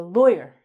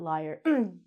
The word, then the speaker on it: lawyer: The pronunciation of this word, it's actually not liar, but it should be. This word is a lawyer. Lawyer, not liar.